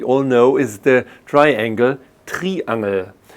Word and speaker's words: Triangel: Well, a lovely instrument which you probably all know is the triangle, Triangel. It's nearly the same spelling, only the pronunciation is a little bit different.